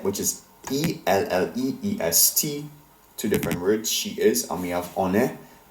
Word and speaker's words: elle est: Notice how all of these verb conjugations end in a silent letter. In fact, the form used for il, he, and elle, she, and on, one, ends in two silent letters, s and t. As a result, neither of these letters are pronounced. However, they do have an effect. They make the letter E take on an E sound, as in ES, and ET endings often do.